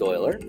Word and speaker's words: Euler: the name of Leonard Euler his last name looks like Euler but it's pronounced Euler okay now he was